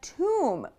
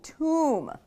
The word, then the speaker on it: tomb: These look so similar but are pronounced so differently. Bomb is really open mouth. Bomb. Comb, oh. And tomb, ooh, tomb.